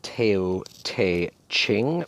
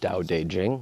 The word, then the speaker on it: Dao De Jing: ever written the Dao de Jing looks like tail teh ching but it's Dao de Jing that's how you pronounce it I've had this